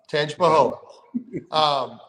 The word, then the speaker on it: Tangipahoa: Tangipahoa.